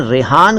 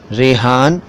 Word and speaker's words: रेहान: दरअसल रेहान शब्द के कई उच्चारण हैं, रेहान, रीहान, रेहान, और ये एक अरबी शब्द है।